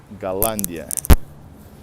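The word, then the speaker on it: Голландия: In Russian, by the way, Holland is Galandia. Very often H letters are pronounced with a G.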